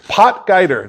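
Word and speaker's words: Potgieter: couldn't even say his name potger pot guider pot guider there you go po potger great great anunciation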